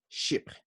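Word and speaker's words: chypre: think in greece well in french it's ship and ship come from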